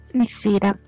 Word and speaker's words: Nessira: Si chiama Nessira o Nessira? Qual è l'accento? Nessira.